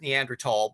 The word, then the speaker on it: Neanderthal: well actually everybody says Neanderthal but that's spelled Neanderthal with a th because the Germans spell it with a th and the French leave it out but it's pronounced the same way another thing I think